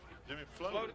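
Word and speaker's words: Flotte: How do you pronounce that last name? Jimmy Floaty.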